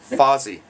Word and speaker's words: Fozzie: But unfortunately, Vossi has been disqualified for being named after a Muppet, because his name is actually pronounced Fozzie.